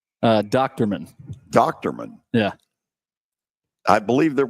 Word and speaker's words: Dochterman: How do you pronounce his last name? Dochterman.